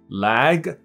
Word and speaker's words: lag: my internet connection is a little laggy，可以 lag。那它的发音就是那个蝴蝶音 lag。那腿是短的一个 ad 音而已，所以这就是 leg leg lag leg。Everybody has two legs legs， OK。所以 last leg